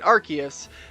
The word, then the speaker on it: Arceus: pronunciation uh because of the the name arse within it and british people were having a laugh about it being so close to ass so they said oh we're gonna we're gonna rework the pronunciation and make it arceus and it works out